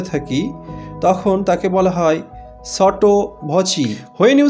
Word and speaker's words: sotto voce: উচ্চারণ মনে হতে পারে সট্টো ভসি, কিন্তু সঠিক উচ্চারণ সটো ভচি, CE এর উচ্চারণ চি।